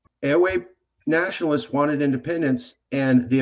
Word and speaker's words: Ewe: I've been saying EWE. How do you pronounce that, sir? Ewe. Ewe. Okay.